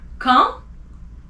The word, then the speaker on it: quand: Q, qualité, quand, AND, you don't pronounce the D at the end, remember? So, quand, que, QU is que, you don't say que, it's que.